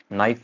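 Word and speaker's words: knee: के एन, के silent, नाइफ, नो, नी, knock, के क्या आ रहा है, सो जा रहा है जब आ रहा है एन के साथ स्टार्टिंग में।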